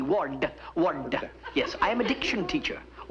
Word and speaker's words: Ward: me yeah you see I pronounced my name w-a-r-d w-a-r-d word yes I am addiction